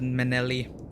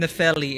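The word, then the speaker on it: Nepheli: soon nicely i don't know why i said menelli i keep got the name wrong find nephili and give salubus this potion oh remember uh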